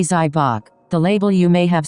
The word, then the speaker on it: Zybach: The inventor's name was Frank Zybatch, pronounced approximately Zybach.